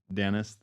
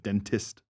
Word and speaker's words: dentist: it can't like it they ruin it by not saying the T like when they say Dennis instead of dentist.